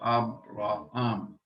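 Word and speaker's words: Ἀβραάμ: Abraham. Notice the accent on the last syllable. Abraham.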